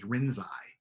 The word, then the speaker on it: Rinzai: chinese name lin ji his japanese name is rinzai so you would pronounce the same characters rinsai in japanese and if you remember